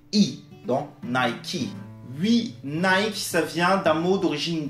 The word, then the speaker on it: Nike: donc le à la fin du mot est prononcé i dans knight qui lui nice ça vient d'un mot d'origine grecque à la